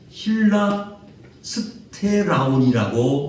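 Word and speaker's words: ἱλαστήριον: 여기서 이 화목제물이라는 이 단어를 히브리어로 발음을 하면은 힐라스테라온이라고 이렇게 발음을 합니다. 이 힐라스테라온이라는 이렇게 발음을 하는데, 이것은 무엇을 의미하느냐면은 다른 것이 아니더라고요.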